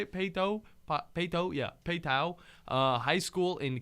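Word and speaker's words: Paetow: Peyto, yeah, Peyto High School in Katy, Texas.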